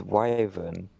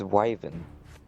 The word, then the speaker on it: wyvern: Okay, so according to Google, for the American pronunciation, it's wyvern. For the British, it's wyvern.